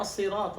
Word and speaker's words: الصراط: الآن الصراط، الصاد من حروف التفخيم.